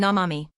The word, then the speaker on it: 生身: It's show me." You heard "show me." The word is 生身 — namami. Two pronunciations. Same meaning.